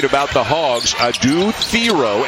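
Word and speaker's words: Thiero: the Hogs a dude theor and yes it is Theo this year not theier it has been he has told people since he has come to fville Theo is the pronunciation he would like he is under the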